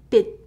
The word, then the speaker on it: 빛: Right, so you might think that it's pronounced bitch, bitch, but thankfully it's not pronounced that way. It's the same with 치읓 받침. So this is 햇빛, 햇빛. So the more correct romanization would be bit, but without t sound.